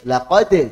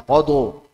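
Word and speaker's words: لقد: Laqad, jangan laqadu.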